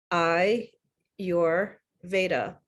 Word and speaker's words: Ayurveda: ayurveda is pronounced and an easy way to remember is I your Veda and it's a Sanskrit